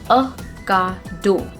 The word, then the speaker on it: Ocado: The correct pronunciation of this word is going to be Ocado. Ocado. It's not O, it's Ocado.